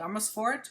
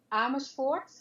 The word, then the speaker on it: Amersfoort: So, Marsha, you are in a little town in the Netherlands called Amersfoort, right? Yes. Did I say it right? Yeah. Strike. Amersfoort.